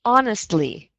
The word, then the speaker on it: honestly: Honestly. Honestly. Excellent. And again, just be very conscious of that H. You don't want to say honestly because the H is silent.